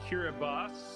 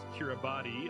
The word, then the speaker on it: Kiribati: We are in Kiribati, or you may know it as Kiribati, although that's not the correct pronunciation. That's just how it's spelled.